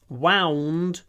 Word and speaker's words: wound: To wind, and it's wind, wound, wound. Look at my mouth. It's a tricky word to pronounce. W, lips forward.